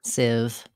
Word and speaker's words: sieve: the spelling in civ can be misleading letters i e say the e sound and siv use other words with